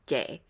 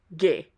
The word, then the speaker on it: Gueye: A lot of English speakers can be tempted to pronounce this name as Gueye. The difference is actually really subtle. You actually pronounce it way back in your throat in a kind of guttural way. So instead of gay, it's Gueye. Gay versus Gueye.